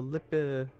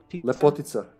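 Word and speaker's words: Lepotitsa: The Lipotica? Lepotica.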